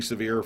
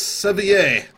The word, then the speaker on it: Severe: Hold, we have a incoming priority 1 message for Billy Severe from his cousin Jeff Severe. Wonderful. Let's go get Billy. And then you hear in the background, it's pronounced Sevier.